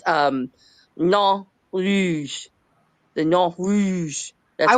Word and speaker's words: Nain Rouge: And I had to look it up to see how to pronounce it because I'm, it's French. But according to what I found, it's Nain Rouge.